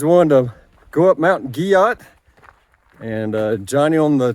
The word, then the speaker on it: Guyot: is on top of mountain guy out well I just mispronounced it it's French guot I'll show let me